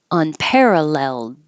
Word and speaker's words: unparalleled: new entrepreneurship either way unparalleled unparal you won't hear the D if it's at the end of the sentence um the example in